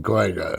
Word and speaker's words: Cahuenga: And I didn't know how to pronounce Cahuenga, so I said Chattanooga. And he started laughing. He says, you mean Cahuenga?